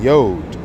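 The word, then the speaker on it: יוד: So, and this is how you say the letter 10, Yod.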